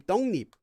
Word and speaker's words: 떡잎: This one is pronounced 떡 잎 if you read it one at a time, but due to sound change rules, it becomes 떡잎.